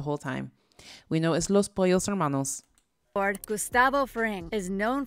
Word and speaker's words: Los Pollos Hermanos: you story behind gus's spice curls realization the los palos hormanos owner and new mexico's biggest drug lord and